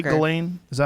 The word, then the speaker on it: Ghislaine: Ghislaine?